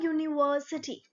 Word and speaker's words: university: Okay, a university, though it's U, starting letter is U, but our pronunciation is what? Y-O-U.